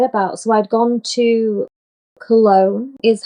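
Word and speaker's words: Köln: in English and then in German they say call it home like K and then O with the two dots on top and then L N.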